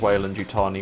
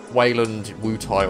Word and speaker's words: Weyland-Yutani: Yeah, your pronunciation at the end there of Weyland-Yutani was kind of close. Oh, did I fucking like blink and just fucking say? Yeah, you said like, I think you said Weyland-Yutai or something.